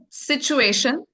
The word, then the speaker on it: situation: So, remember want and then situation. Okay? And again, you said sun. So, remember that. Okay. Uh, pay attention to sh pronunciation.